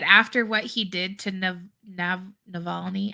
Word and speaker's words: Navalny: don't know that after what he did to Navalny, how do you say his name, Patrick? Yeah, Navalny. That's right. Navalny.